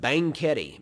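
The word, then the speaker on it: Banquete: driven there before but bangketi b-a-n-q-u-e-t-e now bang kitty sure sounds a lot like banquet in english and that would be because it is but bangkiti banketi is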